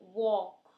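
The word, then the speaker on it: walk: ल sound silent है तो ओ जो है वो लॉन्ग जा रही है। वॉक, बॉर, form.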